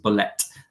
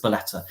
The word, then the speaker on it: Bolette: beteta wasn't until and it's beteta by the way I know if you speak French you might want to pronounce it blette it's beleta and I didn't know